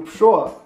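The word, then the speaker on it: Pršo: Ele mesmo inventa a pronúncia do... Lembra o Pshoa?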